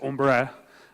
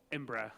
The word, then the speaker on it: Embraer: The CCO at Embraer, or Embraer, as I've been told off in the past for pronouncing it.